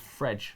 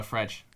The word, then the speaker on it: Fred: Fredge. Fredge. Is it actually Fredge in But Brazilian, in Portuguese?